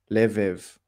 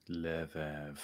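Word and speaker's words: לב: sound is a so this would be lev lev like the levant yes or oh yeah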